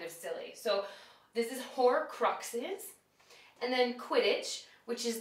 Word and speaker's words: Horcruxes: So you actually do pronounce the X.